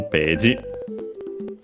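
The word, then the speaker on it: ページ: Those English words, and yes, it's unaccented, unlike in English, of course. So be careful, page.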